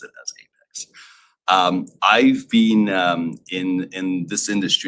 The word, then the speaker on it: APX: I am the CEO and founder of Apex Lending, or APX Lending. We like to pronounce it as Apex Lending.